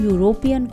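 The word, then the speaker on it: European: देखिए यहाँ पर यूरोपियन को जब हम प्रोनाउंस कर रहे हैं तो वहाँ पर य की साउंड आ रही है. यूरोपियन जो कि एक कॉन्सोनेंट है, इसलिए वहाँ पर हमने ए का यूज़ किया है.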